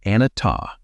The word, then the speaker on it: Anattā: He called this teaching Anattā. Say it like Anattā, and it means simply non-self.